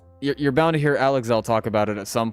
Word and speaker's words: Alex L.: you're bound to hear alexel talk about it at some point but uh I'm not alexel right now so also if anyone was confused yes that is how you say that you would not believe